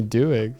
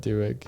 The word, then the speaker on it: Doig: somewhere no yeah no some people with my surname they pronounce it dueg no okay no fine